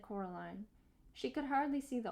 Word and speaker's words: Coraline: name wrong you know they kept saying Coraline not Caroline not Caroline at all he picked up